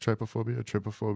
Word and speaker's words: trypophobia: if you look up images on is it pronounced trypophobia, whatever?